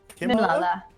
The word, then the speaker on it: Mimlala: Pronounce Mim like Kim. Mimlala. Nimlala.